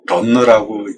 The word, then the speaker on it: runner: 아까 런너를 러너라고 쓰고, 런너라고 읽는다고 그랬죠.